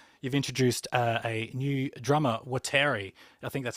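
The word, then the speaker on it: Waltteri: introduced a new drummer, Wateri. I think that's how you pronounce it. Maybe you can pronounce it. How do you pronounce his name? I mean, he's from Finland, so Valtteri.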